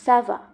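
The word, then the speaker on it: ça va: এর ক্ষেত্রে ব্যবহার হয় তবে যখন সি আ ও এবং উবের সামনে ব্যবহার হয় তখন সাধারণত এটির উচ্চারণ কা হয় তবে আমরা যদি এটির উচ্চারণ সি এর মতোই চাই তখন আমরা লাসে এই অ্যাকশনটি ব্যবহার করি যেমন সাবা অর্থাৎ কেমন আছো বা ঠিক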